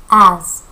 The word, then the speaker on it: as: 다시 한번 as. z 발음 납니다.